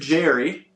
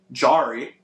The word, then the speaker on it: Jarry: Oh wow, I actually pronounced that better than I thought. All had assist. Tristan Jerry Jarry A R Y uh he struggled tonight 14